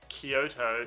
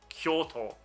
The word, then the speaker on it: Kyoto: of the japanese words so when you have a compound sound in japanese it becomes one sound so instead of kyoto it will be pronounced kyo kyoto not kyo and it's the same with